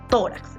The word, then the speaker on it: tórax: Acá está tórax, es una palabra grave.